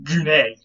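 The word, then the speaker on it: γυνή: is the Greek word, the ancient Greek word for woman, which was gune. Okay, you can see that quain and gune sound pretty similar.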